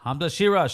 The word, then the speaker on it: Hamza Shiraz: That guy, how do you pronounce his name again? Hamza. Hamza. Shir. Hamza Shiraz.